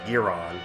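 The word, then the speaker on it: Guiron: how's his name pronounced for years fans have confused the English pronunciation of game's knifehead opponent from his fifth film in Japan the monster is known as giron which stems from the French word Guillotine due to the origin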